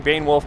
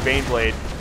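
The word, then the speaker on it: Baneblade: Sorry, I keep saying Bane Wolf, Bane Blade. I often mispronounce the two.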